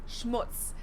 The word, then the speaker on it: Schmutz: And last but not least, the final word on my list is Schmutz. This one is pronounced and used the same way in both languages, and it means dirt.